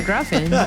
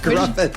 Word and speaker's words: Griffin: Sound like Gruffin. Griffin.